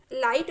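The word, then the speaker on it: light: हैं लाइफ में देखिए लाइट में भी हम आईटी ही बोल रहे हैं लाइट जीपीएस को नहीं बोल रहे हैं और वह वेल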